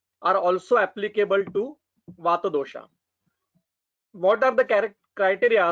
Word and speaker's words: vata: Vata, not as a vata. Pitta, not as a pitta. And kapha, not as a kapha. We have to pronounce it as our Sanskrit pattern, not the according to European style.